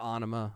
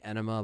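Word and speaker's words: Ænima: was released in 96 some people say enema but Ana is like how the band say says it so but the band will still say two different pronunciations because they're but but Ana is what it what it is um and it has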